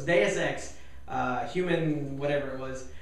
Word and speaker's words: Deus Ex: get get my head around it so it's deus ex uh human whatever it was but anyway gamestop